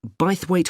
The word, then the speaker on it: Bythwaite: free and the show is being held in bythwaite hall sorry how'd you spell that b y t h w a i t e bythwaite is it easy to find i'm not